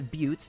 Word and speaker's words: buttes: Yes, buttes, not butts, despite how it's spelled, and spires that seem very similar to those found in Monument Valley on the Arizona-Utah border.